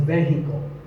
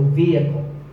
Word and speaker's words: vehicle: It's often pronounced wrongly as vehicle, but the E is a long vowel, and the H is silent, so vehicle.